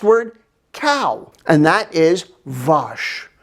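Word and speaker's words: vache: cow and that is vosh sounds like wash my cow is dirty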